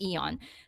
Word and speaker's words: AEON: Japan is Yan I actually thought it was a on but it's you know it's pronounced as Aeon this is like the in the Philippines we